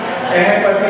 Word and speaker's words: अहिपति: पर निकल सकता है, लेकिन अहपति ना होकर के अहिपति, ऐसा जो है शुद्ध उच्चारण उसका रहेगा।